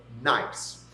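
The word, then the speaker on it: gneiss: like this piece of nice. Uh that's spelled G N I SS, but you can remember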